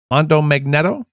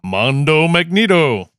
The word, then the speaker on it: Mondo Magneto: called, I'm going to screw the name up, Mondo Magneto? You did not screw it up. That's how I pronounced it. That's not how it looks written. It looks like Mondo Magneto. Of course, yeah. Mondo Magneto.